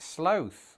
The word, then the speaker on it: sloth: When I brought this up to my wife the other day, she said, why do you say it sloth when it's written like cloth or moth or sloth.